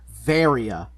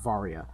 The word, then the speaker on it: Varia: it yes and additionally they also pronounce her suit varia not varya so oh really oh